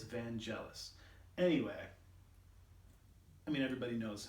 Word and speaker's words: Vangelis: you all know of vangelis van geles vangulis i don't know how to pronounce it i'm not from the 70s um but i'm pretty sure it's van jealous anyway i mean everybody